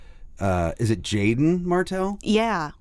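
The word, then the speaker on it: Jaeden Martell: think I I really like uh Is it Jaden Martell? Yeah, it's spelled a little strangely. It's Jaden. Yeah, it's Jaden Martell.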